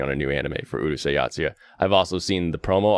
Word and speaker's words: Urusei Yatsura: How do you pronounce it? Urusei. And then Yatsura. Urusei Yatsura.